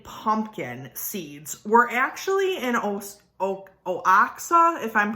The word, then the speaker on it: Oaxaca: So essentially, archaeologists discovered the oldest domesticated pumpkin seeds were actually in Oaxaca, if I'm pronouncing that correctly.